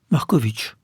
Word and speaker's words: Markowicz: Markovitch. Ça rime avec sandwich. Dobry dzień, Andrei Markovitch.